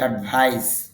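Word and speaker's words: advice: আপনি যদি সিই যুক্ত করেন তখন উচ্চারণ হবে অ্যাডভাইস, সর মতো হবে, তখন অর্থ হবে উপদেশ নাউন হিসাবে।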